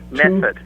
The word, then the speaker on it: Medford: Method. The D is silent.